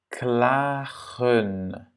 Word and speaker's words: klagen: Klagen, klagen. Yeah? À nouveau, le A est long.